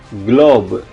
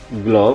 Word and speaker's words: globe: kerasnya glas itu S glob glob globe eh itulah peta yang bumi juga kadang-kadang kita sebutnya globe Oke jadi di sini kalau huruf g-nya diikuti huruf vokal u a o dibaca G baget egalite glase riger